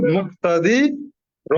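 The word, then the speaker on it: مُقْتَدِر: হুম মুক্তাদি র মুকতাদির, আপনার হরকতের উচ্চারণ টান ছাড়া দ্রুত পড়তে হয়। আপনাদের মুক্তাদির সবার উদ্দেশ্যে বলি, যখন আমরা পড়বো তখন মুক্তাদির আবার যখন মিলিয়ে পড়ছেন তখন আপনার টানের টোন চলে আসছে।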